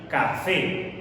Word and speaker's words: café: Si no colocamos el acento y pronunciamos la palabra, va a resultar así, café. ¿Cuál es la sílaba tónica? La segunda, la que tiene mayor fuerza de voz.